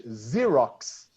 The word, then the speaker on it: Xerox: know that photocopying company we say in English Xerox Xerox okay so the X is many times pronounced like Z auxiliary verb okay so